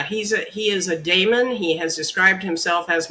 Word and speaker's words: Damon: he explains is that's spelled D a m o n not demon Damon a Damon is um